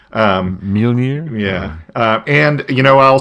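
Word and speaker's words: Mjölnir: I can't never pronounce that right. Mjolnir?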